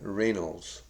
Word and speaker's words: Rainolds: Now, there's a man by the name of John Reynolds. That's spelled Rainolds, Reynolds.